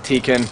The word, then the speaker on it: Tekken: And for the record, when I talk to Tekken, it is Tekken, okay?